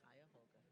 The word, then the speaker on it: Cuyahoga: Cuyahoga? Cuyahoga. Just phonetically like it's spelled.